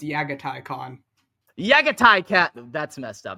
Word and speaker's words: Jaghatai Khan: tell the haters but you actually pronounce the J as a y go around telling people it's yagai khon yagai cat that's messed